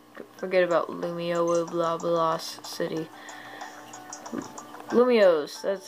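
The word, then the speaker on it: Lumiose: yeah let's just forget about lumio blablas city lumios that's how you say it yeah luma lumios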